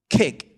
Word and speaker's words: kick: When it comes to this one, your mouth should This is the key to the short vowels. Funnily enough, you make your mouth bigger, kick.